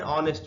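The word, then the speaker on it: honest: लगेगा यहां पर और ऑनेस्ट मां इसमें भी हा साइलेंट है इसलिए इसको वावेल साउंड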